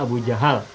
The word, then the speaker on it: Abu Jahal: jahu Abu Jahal ya Abu Jahal tapi orang Indonesia biasa menyebutnya Abu Jahal kalau seharusnya bacanya Abu Jahal cuma untuk memudahkan pengucapan jadi Abu Jahal Abu jahlin Abu